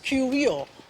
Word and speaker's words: Cuvier: There was this person called Georges Cuvier. Don't pronounce R.